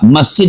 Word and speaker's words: مسجد: پر لفظ ہے مسجد، ہم بول دیتے ہیں مسجد، مسجد تو نہیں ہوتا، مسجد ہوتا ہے۔ ہم بول دیتے ہیں